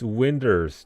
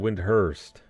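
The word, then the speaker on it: Windurst: He doesn't pronounce the H. It's Winders, not Windhurst.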